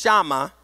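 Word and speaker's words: שמע: The word hear, it's a Hebrew word, and it's pronounced shama. I like that word, shama, shama.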